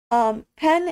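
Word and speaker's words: penn: Some words you do have to be very careful about the accent, like the word pen. Pen and beautiful in Norwegian are kind of the same word. The object, a pen, is pen, kind of just like that, P-E-N-N, and the word for beautiful is pan, P-E-N. Kind of a false cognate there. And you have to pronounce the E long, otherwise you're calling someone a pen.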